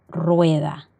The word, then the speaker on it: rueda: La primera es cuando la R se encuentra al inicio de una palabra. Por ejemplo, rueda. El sonido será R, vibrante múltiple.